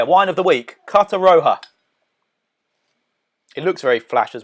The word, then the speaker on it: Roja: I actually thought it was a Rioja, but because it's spelled R-O-J-A. But it's Carta Roja from Sainsbury's.